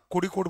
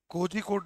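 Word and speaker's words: കോഴിക്കോട്: कोजीकोट नहीं वो तो हम लोग जो हिंदी भाष बोलते हैं। गलत उच्चारण है। कोडकोट जेड एच को झ नहीं बोलते हैं। अगर आप वहां जब कोजीकोट बोलेंगे कोई समझेगा नहीं वहां केरला में। क्या बोल रहा है? जेड एच जो है ण होता है। ण ठीक है? स नहीं होता है कड़ी कूड़ यह उसका असली उच्चारण है मलयालम में ठीक है तो या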